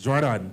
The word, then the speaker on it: Jordan: It's pronounced two different ways. So do tell me if it's Jordan or Jordan. It's Jordan. There we go.